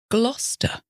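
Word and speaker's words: Gloucester: middle wor and then there's gluster g l o u c s t e r which sits in you guest it the county of gler so this is generally the rule it's as though there's a silent c e but of course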